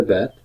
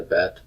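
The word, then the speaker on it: בּ: Hebrew word for dot with the dot the Baptist pronounces of B but but as in boy without the dot it is pronounced as a V sound as in Victor or victory when you transliterate the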